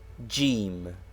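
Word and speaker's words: ج: what is this sign jim it is the letter jim which is the english j but pronounced hard g in egypt the initial form of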